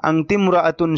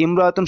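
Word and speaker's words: امرأة: খাদিজাতু আংতি আংতি আংতিমতুন এই ইমরতুন শব্দের আগে অন্য শব্দ হলে আলিফটা শুধু লেখা আসে উচ্চারণে আসে না আংতি ইমরতুন হওয়ার কথা ছিল কিন্তু হবে কি আতমরাতুন এই আলিফটা উচ্চারণে আসবে না আতমরাতুন শারিফাতুন আপনি একজন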